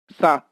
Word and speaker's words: chat: Or CH is pronounced as Sa means CHAT is pronounced as Sa. A is pronounced as A, CH is pronounced as Sa, or last T, final T is not pronounced, so its pronunciation is Sa, means cat.